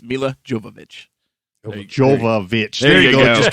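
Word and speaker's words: Milla Jovovich: let me fix it i butchered that little lorna movie it's mila jovovich there you go it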